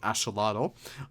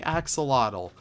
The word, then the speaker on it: axolotl: And then we actually work on the axolotl. Many people actually say axolotl, but axolotl is kind of like the native Nautical language, I think it is, way of pronouncing it.